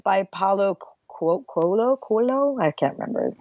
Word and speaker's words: Paulo Coelho: It's by Paulo Coelho? I can't remember. Paulo Coelho. You know how to pronounce it.